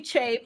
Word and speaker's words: Che: So I've been saying Chi. He has good Chi. Mm-hmm. Okay. It's actually Che, but...